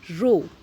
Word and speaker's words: rho: अब आपने ये भी पढ़ा है, अगर मैं इस प्रोपोर्शनैलिटी के साइन को हटा दूँ with a constant, so I will get रो RHO, ये भी पढ़ा हुआ है, रो L upon A, रो is called as RHO।